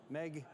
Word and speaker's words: MEG: here, which is the Meg X. I shouldn't be I shouldn't be saying Meg, it's MEG, but it's spelled Meg, right? MSI is calling this the